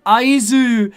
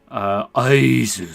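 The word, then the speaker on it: 会津: He's saying Aizu. It's like my name. I get to hear Ozrock saying my name if you just add a K on the end.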